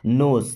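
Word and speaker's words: knows: केवल गॉड मीस भगवान नोस यहां पर के साइलेंट होता है ओके ओनली गॉड नोस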